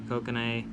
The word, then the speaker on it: kokanee: trout bass crappie walleye coconut coke and I kokanee okay I know how to pronounce that fish I'm just not doing it